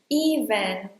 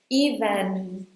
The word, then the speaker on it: even: You have to make a very tight E sound at the beginning. even And then, you hold the N sound here: "even".